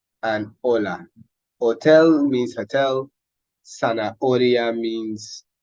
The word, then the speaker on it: hola: So we pronounce these words as though the H weren't there, okay? So we say hotel, zanahoria, and hola.